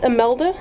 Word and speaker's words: Imelda: this is amelda I had her name wrong in another video I think I called her Esmeralda but her name is amelda i m e l d a she's